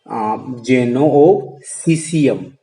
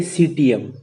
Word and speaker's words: Citium: Okay, from the Athenian schools, and at the Athenian schools founded by Zeno of Cesium. So see the pronunciation. It is not a Citium. It is a Cesium.